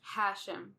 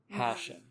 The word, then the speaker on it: Hashem: But Hashem has emphasis on the first. Hashem. Hashem.